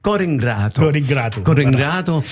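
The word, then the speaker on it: Core 'ngrato: En fait, la prononciation, c'est Cor ingrato.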